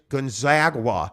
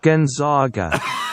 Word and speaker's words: Gonzaga: I paid a lot of good money at Gonzaga. Gonzaga. You will say it correctly. I didn't go through 4 years of wasted education and get a degree that I don't use in poli-sci till I die for you guys to say Gonzaga. Go play intramurals, brother. You will say Gonzaga, or I will unsubscribe from the show. Gonzaga. It's Gonzaga. Gonzaga. That's how you say it.